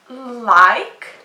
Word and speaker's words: like: The next example is I like your hair. I like your hair. Did you hear that word? Like. Don't forget, the E is silent here and the I is long, so we say it's like.